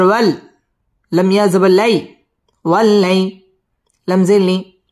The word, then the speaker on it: والليل: سجا والليل إذا سجا ওয়াও ঠোঁট গোল করে উচ্চারণ করতে হবে ওয়াল্লা লাম তাসদীদ ওয়ালা